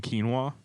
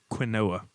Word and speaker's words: quinoa: pretty good people slaps i used to think it was pronounced quinoa yeah that's how it's spelled this quinoa should be k e e n w a h spanish word i'm